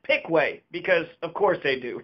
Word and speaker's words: Piqua: One caveat, in Piqua, Kentucky, they pronounce it Pickway because, of course, they do.